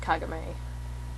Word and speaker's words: Kagome: of in Yasha um her name is actually she is actually pronounced kagame in the sub version and I don't know why they changed it for the dub version and I became Kagome but whatever it doesn't